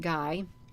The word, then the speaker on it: Gy: about the female species they're called the gy and is pronounced guy was a magnificent specimen